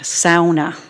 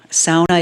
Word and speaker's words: sauna: Many of non-Finns know two key words in the Finnish language: sauna. Sauna is the correct pronunciation.